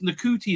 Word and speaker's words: Ncuti: Oh, no, it's Ncuti now, right? Ncuti. You're not supposed to say shoot.